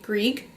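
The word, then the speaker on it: Grieg: so if you hit his last name is spelled GRI eg Greek so he composed in a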